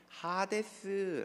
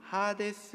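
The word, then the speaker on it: ᾅδης: 이렇게 말하죠 그가 음부 헬라어로 는 핫 에스 라고 발음합니다 음부 하데스 해서 고통 중에 눈을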